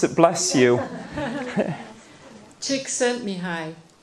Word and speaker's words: Csikszentmihalyi: pronounce it bless you Csikszentmihalyi he says it in the books he says just think chick sent me hi chick said to me hi okay oh okay yes